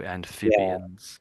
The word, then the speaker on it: amphibians: So you're so the ph obviously an F sound, isn't it? Ray. So amphibians.